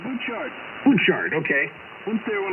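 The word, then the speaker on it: Butchart: yeah thank you w6y is that how you say it boot chart or is a butt chart it's a boot chart Boart okay went there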